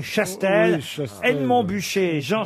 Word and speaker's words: Chastel: Et là, il m'a dit Castel, alors que c'est Chastel.